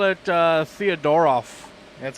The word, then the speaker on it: Theodoroff: It's like the ending throws people off. Yeah. What? How do they say it? Like Theodorf. Theodorf. Yeah. Like people No, there's off in there, you know.